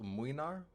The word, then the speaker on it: Mlynar: Then there's Gregory with Mlynar, and yes, I know it's pronounced Mwynar, but I do not care. I think Mlynar sounds better. I will put extra emphasis on the L.